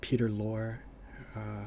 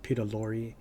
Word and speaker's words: Lorre: I used to call him Peter Lorre, and then I heard someone pronounce it Peter Lorre, so now I just don't know anymore, but I'm thinking it really was Peter Lorre.